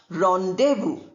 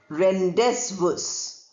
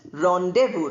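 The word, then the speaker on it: rendezvous: Zed is not pronounced. It's written but not pronounced.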